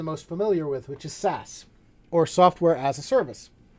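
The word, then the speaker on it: SaaS: with these three software as a service or sas s-a-a-s platform as a service or pass p-a-a-s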